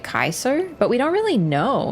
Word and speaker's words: Caesar: even sound that good C is pronounced like a K in the proper vacular yeah I thought that like we say Caesar but like apparently it was supposed it was more pronounced like Kaiser but we don't really